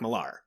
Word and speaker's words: Millar: when they said Mark Miller, I was like, and isn't it technically Mark Millar? I don't know. We've always said Mark Millar, But it is because it's spelled with an Millar.